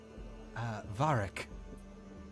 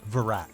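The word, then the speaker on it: Varaak: my name is varric varric wait no it's pronounced uh virac sorry v-a-r-a-a-k ah we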